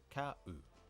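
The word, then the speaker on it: 買う: will end in ta, whereas the present or dictionary form ends in an u sound. So not always a gu or a ru, but here's a nice u. Ka-u. Cow.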